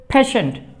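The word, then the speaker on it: patient: পি এ ফি এ টি আই ই এন টি, পেশেন্ট, পেশেন্ট। এখানে এই যে English letter টি এর উচ্চারণ বাংলা স্বর মতো হয়েছে, পেশেন্ট।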